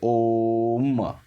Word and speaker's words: ओम: बोल करके, ठीक है, तो ओम शब्द का उच्चारण नहीं कि आप डायरेक्ट ओम बोल दोगे तो गलत हो जाएगा। ये जब लग जाता है ना दोस्तों, समझ जाओ उसका उच्चारण स्थान जो है बढ़ रहा है, ठीक है। तो ओम को आप अच्छे से बोलोगे तो पूरा का पूरा ओ, फिर लास्ट में गिरोगे म पर, ठीक है, ओम, ठीक है।